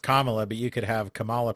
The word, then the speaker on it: Kamala: I know it's pronounced Kamala, but you could have Kamala Palooza too.